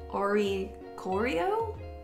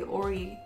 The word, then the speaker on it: Oricorio: And, ooh, looks like it's just non-holo rare Oricorio? Or is it possibly Orisorio? I don't know how that C is pronounced. I'm gonna say Oricorio.